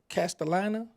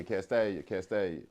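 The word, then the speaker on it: Castalia: then, speaking of Memphis, now correct me if I'm pronouncing this wrong. How far is Castellana, Castellina, Castellia, Oh yeah, Castellia.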